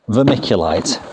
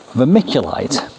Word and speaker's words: vermiculite: known as vermiculite now vermiculite sounds like the word vermicelli which comes from the Latin for worms and when I open this